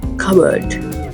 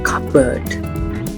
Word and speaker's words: cupboard: today bird number 10 cupboard cupboard it's not cupboard here the letter B is silent cup for example the sugar is in the the cupboard this is a bonus